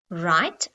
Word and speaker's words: write: Write.